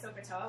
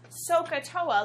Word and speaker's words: SOHCAHTOA: Okay, so I'm kind of like SoKoToa, which is why I like her so much.